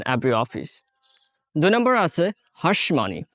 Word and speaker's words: hush money: office দুই নম্বর আছে হাঁসমানি এই হাঁসমানি টাকে অনেকেই কিন্তু আবার হুশমানি হিসেবে উচ্চারণ করে আমাদের প্রোনাউন্সিয়েশনের সময় এটা